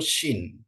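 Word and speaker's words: שׁ: ada dua Sin ya kalau titiknya di atas sebelah kiri itu Sin ya titiknya di atas sebelah kanan itu Shin Shin ya jadi itu ya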